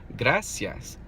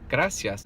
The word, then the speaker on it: gracias: God ah God ah now try to pronounce the whole word like that God ah yes get us yes yes got us yes if you start speeding it up once you've got it mastered slow good I see yes good ICS got us yes it actually sounds like the real word gracias gracias so work on that